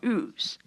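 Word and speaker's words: Uz: described as coming from a place called ooze and you spell that u z i have horrible handwriting please forgive me U is how you spell oo now while we can't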